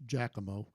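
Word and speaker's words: Giacomo: And uh anyway, Jack Moates spelled Jakamo, but apparently it's pronounced Jackamo.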